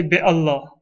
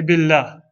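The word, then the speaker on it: بالله: We don't say bi Allah, we say billah.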